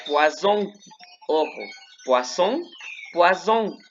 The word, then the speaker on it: poisson: Si yo digo poisson, como tiene doble S, ese se pronuncia como si fuera una S normal.